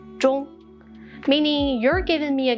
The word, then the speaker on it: 钟: But in the Chinese culture, the word clock, 钟, has the same pronunciation as final, 钟, meaning you're giving me a gift before I travel to heaven or hell.